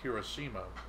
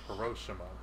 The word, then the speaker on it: Hiroshima: Because we normally pronounce it Hiroshima, but they were calling it Hiroshima.